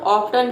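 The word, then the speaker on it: often: ऑफन, ऑफन मतलब होता है, इसको देखिए ऑफन भी पढ़ते हैं और ऑफ्टन भी पढ़ते हैं, ठीक है, दोनों प्रोनाउंसिएशन सही है, जो आपको इजी लगे आप पढ़ सकते हैं, ज़्यादातर इसे ऑफन पढ़ा जाता है।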